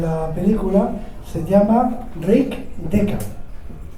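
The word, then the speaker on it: Deckard: y luego en la película se llama Rick deca y para que veáis la profundidad filosófica de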